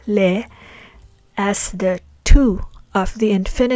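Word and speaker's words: לְ: Please take note that we use the prefix lamed, which is in most cases pronounced as le, as the tu of the infinitive forms of pa'al, pl, hif'il, hitpa'el, and nif'al verb types.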